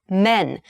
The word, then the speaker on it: men: the plural form men please be careful the pronunciation the vowel sound pronunciation changes significantly not man's but men men one man two men three men four men one man two men so listen for that e sound or the a sound there this can be